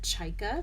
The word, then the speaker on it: Chayka: yardage that you have it's called chika CH a y ka which is how you say the seagull in Russian which it's